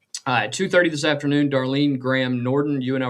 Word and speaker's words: Darline: It is spelled D- A R L I N E. Everybody that we've heard has pronounced it Darlene, so that's what we're going to go with.